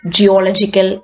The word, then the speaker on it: geological: Geological 1, 2, 3. ഇതായിരിക്കും stressed.